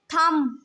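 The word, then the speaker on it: thumb: वो कौन-कौन से हैं थम अब आप इसमें देख सकते हैं कि ये जो बी है ये हमारे पास साइलेंट है वाच वाच के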